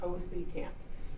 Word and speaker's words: cosecant: CSC, that stands for cosecant, is how you say that, cosecant.